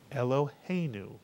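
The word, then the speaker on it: אלהינו: And the word is pronounced in 3 syllables as Eloheinu, mitsuyan, Eloheinu.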